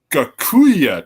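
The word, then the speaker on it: Gocuyyeh: can okay because it's a weird title the gakuya tapes and how you spell it is G o c u y y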